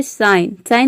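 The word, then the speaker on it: sign: साइलेंट रहता है, मतलब कि जी को हम प्रोनाउंस नहीं करते हैं। जैसे कि देखिए यहाँ पे है साइन मीन्स होता है चिन्ह।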